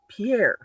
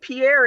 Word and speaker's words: Pierre: the state was called pierre because it's written like pierre that it i said pierre and they're like what i'm like pierre the capital and they're like it's pronounced pier like because white people